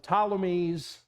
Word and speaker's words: Ptolemies: The Seleucid dynasty representing Syria to the north, the Ptolemies, the P is silent, representing Egypt to the south.